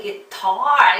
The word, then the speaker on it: guitar: 우리 기타 이러는데 희한하게 guitar 이렇게 힘주세요.